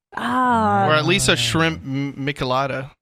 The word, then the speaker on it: Michelada: Or at least a shrimp michelada. Michelada?